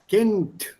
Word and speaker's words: Kind: Kint. Words ending with b, d, and g, b, d, and g. They are pronounced with a p, t, and k.